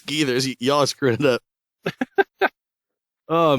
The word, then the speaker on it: Gathers: matter who it is is it GS yes no it's gethers y'all screwing it up